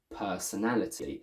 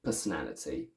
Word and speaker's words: personality: The same thing happens with personality. The first per syllable is not the main stress, but it's the secondary one. So we keep the a full, long, single sound rather than personality with a schwa.